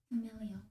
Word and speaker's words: familial: deeply embedded familia familia familial norms famil Oh my god. And I know I'm saying it right. I check anyways. Familial. Familial. I was saying familia. So I guess I was wrong.